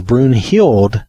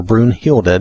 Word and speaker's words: Brunhild: And if anybody, the only person I have rezzed is Brunhild, or Brunhilde, depending on how you want to say her name.